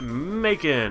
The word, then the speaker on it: Macon: It is a male Tepig, so let's name it Macon. Oops. Macon, which is a name that rhymes with bacon.